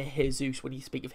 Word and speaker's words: Jesus: And they don't say it like Jesus, they say the J, which is weird.